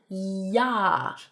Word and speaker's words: ja: 'J's in German make 'y' sounds so, like saying a basic 'yes' is the word Ja (yah).